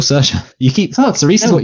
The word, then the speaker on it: Saoirse: Cerise Ronan, did I say it right there? Cerise Ronan? No, it's still Saoirse.